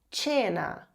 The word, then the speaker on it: cena: os diferentões, digamos assim, porque eles mudam a pronúncia do c e do g. Então aqui essa palavra aqui significa jantar. Jantar em italiano se diz tena. Tena. E se escreve dessa forma aqui com o cena.